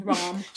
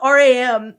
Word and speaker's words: Ram: Rom. Fuck. It's spelled R-A-M.